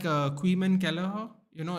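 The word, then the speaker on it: Caoimhín: So yeah, it's like Queeman Kelleher. You know, it's spelled Caomhin, but they call him Queeman.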